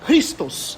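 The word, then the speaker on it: Χριστός: a mesma letra do Christos em grego. A gente fala Cristo, mas se fosse falar de acordo com a pronúncia grega, é Christos. Ou Christos, né? Porque o X tem o som de ki.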